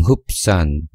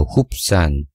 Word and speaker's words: Hubsan: 저는 크롬창에서 쳤는데요, 이거를 외국 사람들은 흡산, 뭐 흡산, 또 어떤 분은 협산이라고 읽는데요, 우리나라 분들은 주로 협산이라고 쓰고 읽으시니까 저도 협산이라고 용어를 통일하겠습니다. 그러면 협산 본사 사이트로 들어가셨죠?